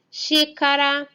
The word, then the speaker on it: xícara: X com som de CH ou X. O som do CH é o mesmo som da letra X quando ela tem o próprio som. Vamos ver alguns exemplos. Xícara, xadrez, xarope, lixo, bruxa,